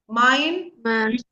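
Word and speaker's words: mein: We have ei. Ei is I. Mine. Mine. M E I N.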